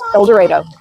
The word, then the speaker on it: El Dorado: And that is how they pronounce it in Kansas. El Dorado.